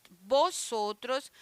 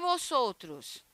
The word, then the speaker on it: vosotros: Nosotros, vosotros. Por que vosotros? Porque o V ele tem um som de B, tá?